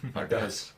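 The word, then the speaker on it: פרדס: The acronym is the Hebrew word Pardes, which kind of sounds Spanish actually. Pardes.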